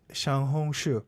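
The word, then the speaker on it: 小红书: Xiaohongshu. Yes. That's how you pronounce it.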